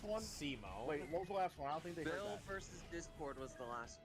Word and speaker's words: Simon: It's spelled Simon. It's pronounced Simone.